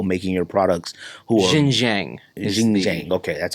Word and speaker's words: Xinjiang: Xinjiang. Okay, that's how it's pronounced.